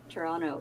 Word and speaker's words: Toronto: yes it's so funny when Americans say toron Toronto because they say it with a t yeah Toronto yeah because